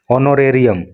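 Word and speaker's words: honorarium: योगदान है टू द ऑनोरेरियम। देखिए इसमें एच साइलेंट होता है तो ऑनोरेरियम पढ़ते हैं इसको, और ऑनोरेरियम का मतलब होता है मानदेय या पारिश्रमिक।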